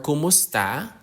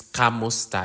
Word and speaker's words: Kumusta: sometimes also people use Kamusta I think the commonly used one is Kamusta but of course the correct and most proper way to say that is Kumusta like from como esta from Spanish origin So kumusta ka How